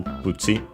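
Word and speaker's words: プチ: But in this case, actually, in Japanese, accent on the first syllable, so be careful. Pucci.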